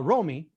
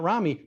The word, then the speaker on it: Romy: on the pronunciation guide it is uh romy not romney but we still do